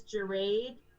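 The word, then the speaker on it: Gerade: know your last name my last name is jarrade it's spelled g-e-r-a-d-e you got everybody denise yes sir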